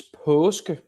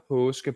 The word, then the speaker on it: Paaske: So actually, it's Paaske. So you say, oh, yes. So it gets when you put two A's together, it gets the sound of the last letter in the Danish alphabet, which is O, and it's that sound. So it's Paaske.